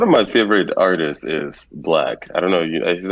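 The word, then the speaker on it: 6lack: don't know a black it's spelled like black was it's spelled with six instead of a b so six black okay so the black the D is six okay that's one of my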